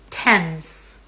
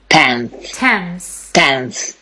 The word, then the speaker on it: Thames: This word is pronounced Thames. Thames.